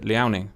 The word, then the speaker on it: Liaoning: Liaoning. Yes, I'm aware you can pronounce it a different way. I pronounce it Liaoning.